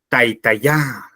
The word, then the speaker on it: taitaya: Fíjense, taita es grave o llana. Taitaya es aguda.